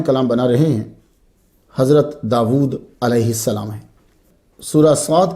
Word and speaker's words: داود: اسم داود قرآن مجید میں 16 مرتبہ آیا ہے۔ اس کا تلفظ داود ہے، ہم داود بھی کہتے ہیں، وا الٹا پیش وو، داود۔ یہ اسم جو ہے